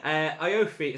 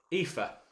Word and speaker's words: Aoife: I realised that's an Irish name, and there is a proper way of pronouncing that, and I'm going to Google it because I cannot say Iofi, knowing that is the worst butchering of that name ever. I'm not particularly good on my Irish pronunciations, so I'm going to... let me just see how to pronounce. Right, let me get this right. Aoife. Sounds like Aoife. That's what Google says.